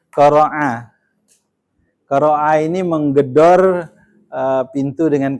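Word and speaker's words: قرع: Yang pertama dia al-qari'ah ini dia dari kata qara'a. Pakai ain ya. Bukan qara'a, karena kalau pakai hamzah qara'a membaca. Kalau ini asal katanya qara'a.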